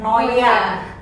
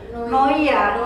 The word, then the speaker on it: Noia: dan emang maksudnya Eh orang pun kadang eh ngucap Noya karena dipikirnya i itu kan bukan jadi bukan dibaca i ya Noya iya i cuma akirnya